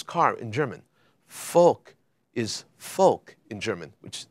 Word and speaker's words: Volk: in German folk is folk in German which the V is actually pronounced as an F the people Mercedes was